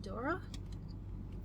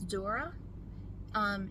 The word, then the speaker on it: Duras: The Lover by Marguerite Duras. I hope I'm saying her name right. She's French. I don't speak French. I think it's Duras. It's spelled D-U-R-A-S, in case you want to look her up.